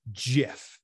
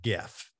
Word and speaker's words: GIF: Like is it GIF or GIF? What's the pronunciation? All right. Like I got so much heat for this. The creator of it says it's GIF.